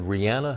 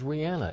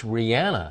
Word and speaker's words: Rihanna: Because I mispronounced the name a couple times. And friends of mine, I said Rihanna. Her name is Rihanna. In Barbados, it's Rihanna. It is.